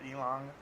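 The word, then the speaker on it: ylang-ylang: it in English but it's y l a n g y l a n g like elang elang or elong we say Elon in Chinese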